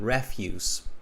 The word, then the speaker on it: refuse: pronounced differently here so same spelling different pronunciation refuse okay refuse means garbage all right